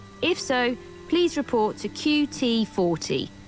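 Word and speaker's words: QT40: so please report to qt 40 brackets not pronounced cutie you'll find me lurking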